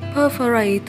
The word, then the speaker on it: perforate: Từ số 26, chúng ta có động từ là perforate, nhấn âm 1.